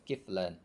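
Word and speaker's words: كفلان: kiflan, itu dua tanggungan, bikasril kaf, dengan bacanya kafnya di kasroh, kiflan.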